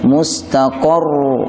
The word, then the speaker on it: mustaqarrun: Huruf ra-nya tebal. Mustaqar, mustaqar. Suaranya juga harus mengalir. Mustaqarru, tidak dibaca mustaqarru, mustaqarru. Itu cara baca yang kurang tepat karena suaranya terputus. Suaranya harus mengalir. Walakum fil ardi mustaqarrun wa mata'un ila hin.